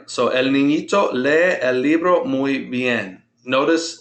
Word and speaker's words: lee: So el niñito lee el libro muy bien. Notice when I'm pronouncing lee, I pronounce both vowels. That's a 2-syllable word, and I'm putting the